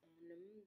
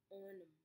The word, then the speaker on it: On'em: I don't really know what it says on them, but I don't really get it. But it's by Nicki Minaj. On them, it's O-N-E-M, on them. Yes, I'm pretty sure that's how you say it.